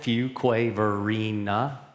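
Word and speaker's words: Fuquay-Varina: And this is how you pronounce it. Fuqua Verina.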